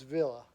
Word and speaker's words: Villa: Villa or Villa, however you pronounce it. It's Villa. Villa. Yeah, she pronounces it Villa.